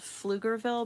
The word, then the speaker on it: Pflugerville: It's called Pflugerville, but it's spelled with a P, so let me write it down for you.